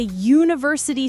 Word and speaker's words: university: He is a university student here. Don't look at the spelling. Focus on how you say you. Yo, you. The sound of Y is coming here.